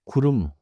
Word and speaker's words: 구름: And cloud is 구름. Two syllables, 구름.